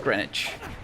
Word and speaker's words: Greenwich: It's pronounced Greenwich.